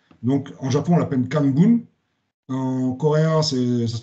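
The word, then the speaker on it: 漢文: Donc en Japon, on l'appelle Kanbun. En coréen, ça se prononce Hanmun.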